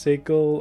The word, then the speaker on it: Sigil: of the universe um and I know it's pronounced sickle or yeah it's spelled sigil it's pronounced sigil because the devs were having a laugh or something I don't know there's some reason why it's pronounced Sigel instead of sigil but I can't remember what